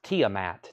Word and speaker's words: Tiamat: Testament Jeffrey Dunlap you were second it was pronounce Tiamat Tiamat thank you Dominic muino any phone The